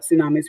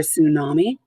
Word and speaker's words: tsunami: a paper on it we've been talking about tsunamis for the past couple weeks give yourself a one two or three for a tsunami a tsunami the su being silent e three